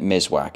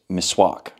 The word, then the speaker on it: Miswak: I've been pronouncing it Miswak, it's Miswak.